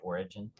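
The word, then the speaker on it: Origen: sense of the Fall I think it's pronounced origin is it origin you know David Bentley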